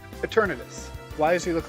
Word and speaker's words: Eternatus: pronounce that Pokemon's name? Eternatus.